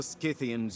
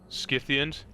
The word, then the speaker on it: Scythians: Apparently I've been saying it wrong my whole life. Scythians? My bad. I always just called it Scythia. It's spelled like Scythe, okay?